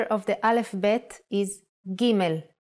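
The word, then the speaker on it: ג: the aleph bet is gimel the sound of gimel is G let's first see how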